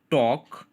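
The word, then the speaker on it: talk: Look at the word टॉक. Here L is silent.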